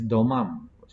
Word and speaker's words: demam: They say, for example, they pronounce fever as domam. When you go to Kelantan, they call it demam. Yeah? And you go to Johor, they pronounce is demam.